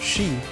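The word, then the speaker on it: 四: Japanese find it unlucky because it's pronounced shi, which means the word of death.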